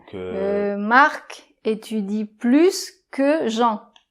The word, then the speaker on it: plus: Par exemple, bien, tu as plus de chocolats ou de chips que moi. - Ok - D'accord ? Donc là on va prononcer le S.